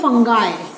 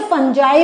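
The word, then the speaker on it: fungi: इसको हम कहते हैं फंगाई. बहुत से लोग इसको फंगाई बोलते हैं, बहुत से लोग इसे फंजाई भी बोलते हैं. Both pronunciations are absolutely correct, इसमें कोई प्रॉब्लम नहीं है.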